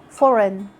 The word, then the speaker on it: foreign: Letter G is silent when it comes before an N at the end of a word, like in sign, design, campaign, foreign.